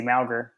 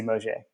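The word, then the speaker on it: Mauger: Quincy, and like I always thought his name was Quincy Malger. And then like his senior year is like, well, it's actually like it's Quincy Mosier. So Mosier. Yeah, so that was how you pronounce his name.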